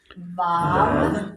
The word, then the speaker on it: Vav: Vav, Vav. V is is in vine. and it says consonantal vowel because there are times when it doesn't even sound like a V.